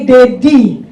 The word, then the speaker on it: Dedy: Ini sebagai Dedy Saya. Kalau e Ded kan tulisannya D I ya. Cuman kan kalau secara pronunciation itu kayak daddy in English.